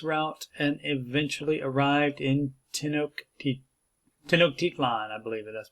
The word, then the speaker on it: Tenochtitlan: men took this route and eventually arrived in Tenochtitlan, I believe that's pronounced, which is now Mexico City, Tenochtitlan.